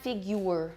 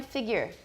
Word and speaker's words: figure: It is not figure. It's not you. It's a schwa. Everyone, figure. Figure.